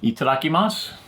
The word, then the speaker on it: itadakimasu: say itadakimasu itadakimasu it's also five syllables ready eat it mouth itadakimasu looking mouth they sound exactly the same don't they you can get away